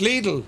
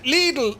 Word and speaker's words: Lidl: Lidl is pronounced Lidl. Who knew? Yeah, Lidl, like needle.